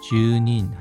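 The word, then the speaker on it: 住人: 히모또 토미라레르 뭐뭐라고 보여지다 주타크 주택 주닌 주인입니다. 살고 있는 사람 주님인 발음에 주의해 주십시오.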